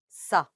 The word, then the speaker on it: ça: but a cedilla would be pronounced Ça. like an S sound.